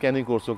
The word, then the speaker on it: Cane Corso: स्टडे क्या है देखिए एक्चुअली इसको प्रोनाउंस करते हैं कैनी कोसो के फोन में अच्छा कैनी कर्सो हां जी और ये मेरे पास